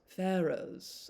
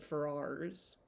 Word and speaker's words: Ferrars: I also think their name is pronounced Pharaohs, and I've always said Ferrars.